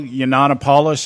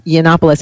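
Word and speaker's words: Yiannopoulos: in the media Milo yanan I think that's how you pronounce his name yeah it's actually yannopoulos I know it's a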